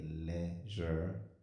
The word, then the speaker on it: ledger: A short line called a leisure, and the D is silent.